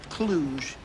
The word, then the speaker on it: Cluj: they're playing for CFR Cluj I believe that's pronounced Cluj Thank You Fraser it's got a nice ring